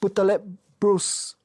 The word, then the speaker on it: Boutaleb-Brousse: Welcome listeners to another Wholehearted podcast episode and today I have with me my friend Leila Putalp Bruce. I hope I get your name pronounced correctly.